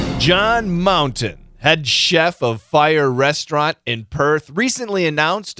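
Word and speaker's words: Fyre: The name of the restaurant is Fire, but the spelling is not F-I-R-E. The spelling is F-Y-R-E. Okay, but it's still, the pronunciation is Fire.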